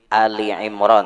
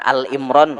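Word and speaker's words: آل عمران: Ali Imran. Nah, tuh bacanya Ali Imran. Jangan Al Imran K ada surah Al Imran.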